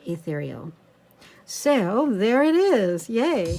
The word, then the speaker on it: Ethereal: It's got the 8 there, but it is pronounced Ethereal.